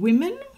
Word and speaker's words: women: O is pronounced E in women.